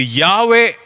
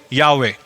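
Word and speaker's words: Yahweh: அவர் சொல்லுகிற காரியம் என்னவென்றால் இது யாவே என்று உச்சரிக்கப்பட வேண்டும் என்று பிரிட்டானிக்கா என்சைக்ளோபீடியா சொல்லுது எனவே இந்த வார்த்தையினுடைய சரியான உச்சரிப்பு யாவே தேவனுடைய பெயர் யாவே இன்னைக்கு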